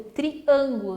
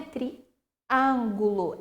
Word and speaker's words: triângulo: circunflexo um timbre fechado por exemplo triângulo não é Triângulo é triângulo timbre fechado paciência escândalo e chinês